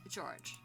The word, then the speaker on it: George: cousins his name is written like this and pronounced she drew me at George he's five years older than me so he